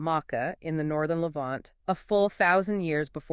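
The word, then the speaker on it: Maacah: in the northern Levant called Mecca. Okay, let me spell that out. M-A-A-C-A-H, Mecca. Exactly.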